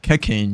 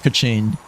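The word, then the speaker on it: Kachina: is actually pronounced like kachen, you know, like like a cash register opening and whatnot.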